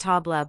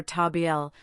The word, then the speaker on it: table: This is why these words are not pronounced tabla but rather tabiel with the L sound completing the word.